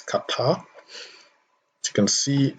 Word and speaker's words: Qatar: qatar yes it's pronounced qatar and not quite ah some people pronounce it quatermo it's not quarter it's qatar as you can see